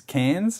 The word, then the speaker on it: Cairns: But the one that always annoyed me was this Cairns in Queensland, because it's spelled Cairns. Cairns, and then it's like no, it's Cairns. Like they just omit like 2 letters.